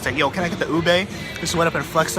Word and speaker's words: ube: They didn't know how to pronounce it. They're like, "Is this ubi? Ube?" And then I just like went up to them and was like, "Yo, can I get the ube?"